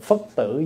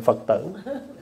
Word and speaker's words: phất tử: Cho người đọc cái câu đó phải đọc là cô hồn phất tử giáng lâm lai, chứ không phải cô hồn Phật tử.